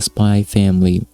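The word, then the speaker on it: Spy × Family: this season we have the very popular manga spy family yes you're not supposed to pronounce the eggs by the way adopted into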